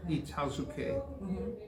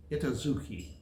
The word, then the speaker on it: Itazuke: My school was on the Air Force Base, on Itazuke Air Force Base. Most Americans called it Itazuke. But, K-E, Itazuke, right? Itazuke. Itazuke, K-E, yes. K-E, but people pronounce it as Itazuke. They were idiots.